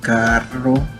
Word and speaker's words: carro: La letra doble R, como en la palabra carro, se pronuncia de manera fuerte, haciendo que la lengua vibre contra el paladar.